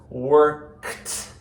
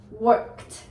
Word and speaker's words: worked: you're saying word worked Worked. Work. Worked. And the problem is word is already another word for word, but this is worked. You have to have the T sound at the end.